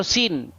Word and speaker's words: Suen: Sin ya atau Suen bahasa Akadia atau bahasa Enzu ya dibaca dipronounce sebagai Suen atau Sin.